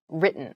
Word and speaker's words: written: we use written instead it sounds more like a D sound almost so the T sound is very soft when you're speaking try